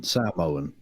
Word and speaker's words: Samoan: Or even Samoan, as you're supposed to pronounce it, apparently. Is it like Sam? Apparently that's how they do it.